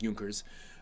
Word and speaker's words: Junkers: to directing junkers come here and yes it's pronounced yunkers um this is a uh sort of Coming